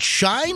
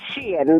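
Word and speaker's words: Shein: $44 on Amazon versus $14 on is it Shine or is it Shen it's Sheen that's yeah Sheen is how it's pronounced okay Sheen sh I got you hey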